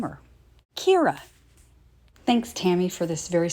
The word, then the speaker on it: Kira: And if you notice at the very top, it says K-I-R-A twice. You pronounce that Kira Kira, and in Japanese, it means sparkly and shiny. Maybe that's what I'll name her. Kira.